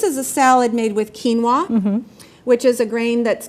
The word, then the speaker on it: quinoa: a salad made with quinoa which is a grain that's gotten a lot more popularity lately it's spelled q-u-i-n-o-a so it does not sound the way it's spelled and this has more